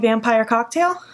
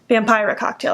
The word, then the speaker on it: Vampira Cocktail: And I'm going to start by taking the lightest red, the one called Vampire Cocktail. Vampira Cocktail, I said it wrong.